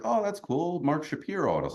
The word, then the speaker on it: Shapiro: so I'm like hey you're you're Mark Shapiro and he was like thank you for not saying Shapiro um because he made up that pronunciation like it's BS I don't know what his issue is but whatever uh so